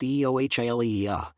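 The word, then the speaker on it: Eohilia: Eiohilia, pronounced Eio Hila, is the brand name for oral budesonide.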